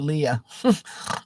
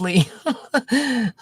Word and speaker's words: Lee: But I've always called you Leah. And you always remind me it's Lee.